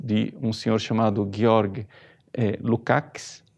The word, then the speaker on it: Lukács: um senhor chamado Georg Lukács, na verdade, a pronúncia, Lukács, que fala de conscientização.